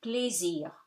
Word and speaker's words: plaisir: Plaisir, you pronounce the R because it's not after the E, S becomes Z between two vowels, two E's, and AI gives you E, open E, so avec plaisir.